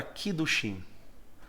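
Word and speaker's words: קידושין: A palavra casamento aparece nas Escrituras e ela tem a seguinte pronúncia em hebraico. Eu não sou nenhum hebraísta, portanto, vai aqui de acordo com aquilo que eu consigo manifestar. É a palavra kiddushim.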